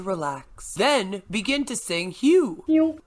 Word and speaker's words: HU: Then begin to sing Hugh. Pronounced like the word hue.